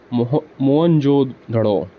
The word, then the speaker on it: मोहनजोदड़ो: मोहनजोदड़ो शब्द का सही उच्चारण है मोहनजोदड़ो।